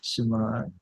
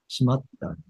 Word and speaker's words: 閉まった: Your pronunciation matters. You said that 閉まった。 shimada. 閉まった。 It sounds like a three more to me when you say it like that.